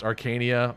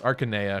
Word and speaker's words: Arcanea: it I'm sorry arcanea I always felt it should be pronounced Arcania but you're right it's arcanea because in Japanese it's akanea sorry my mind shows